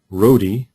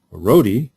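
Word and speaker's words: Roadie: The startup is named Rodi, and in a gesture of great unconventionality, Rodi is spelled the way Rodi is spelled, R-O-A-D-I-E.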